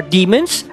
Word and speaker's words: daemon: regardless whether they are demons, devils, daemons, oni, asura, or rakshasas. Even the daemon is actually pronounced as demon, although I prefer to use the former to avoid confusion between the two.